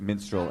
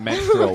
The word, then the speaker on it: minstrel: Also, if you want to do a bit about minstrel shows, make sure that you pronounce it minstrel and not menstrual, which is how you are pronouncing it.